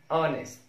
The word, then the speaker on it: honest: الحالة الثالثة لحرف ال H إن ال H is also silent at the beginning of many other words. ال H بتبقى silent أو لا تنطق أو صامتة في بداية العديد من الكلمات. Like our, honest, owner.